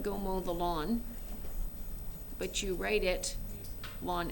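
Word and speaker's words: ln: we give it a name we call this lon x so you pronounce it just like gomo the lawn but you write it on x okay so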